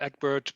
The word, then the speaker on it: Egbert: Hi, I'm Egbert, pronounced also if you want, and I'm in Munich in Germany.